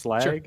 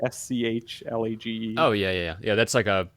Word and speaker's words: Schlage: the locks, which I don't know how to pronounce the name, and so I almost like try to skip over it. It's Schlag, SCHLAGE.